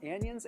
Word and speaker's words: anion: It's all good, but that's how you say it because it's anion. Like it's an anatopic ion and then catatonic ion.